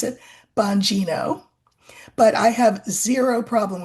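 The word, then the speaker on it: Bongino: So, are you happy I'm pronouncing it the way you want me to pronounce it? Banino.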